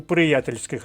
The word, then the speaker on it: приятельських: нозі одиб бути у приятельських стосунках слово приятельських виписуємо собі в словничок позначаємо наголос на першому складі звертаємо увагу на правопис